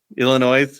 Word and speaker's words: Illinois: You didn't pronunciate the S. Illinois.